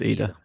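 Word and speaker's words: Idah: Is it Ida or Ida? It's Ida.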